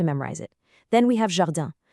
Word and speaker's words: jardin: Then we have jardin. The pronunciation here needs that soft J sound and another nasal ending, jardin.